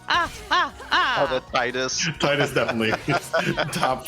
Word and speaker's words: Titus: And I will say, I do say Titus rather than Titus, but that's because I've played some FF stuff in Japanese, and that's how they say it.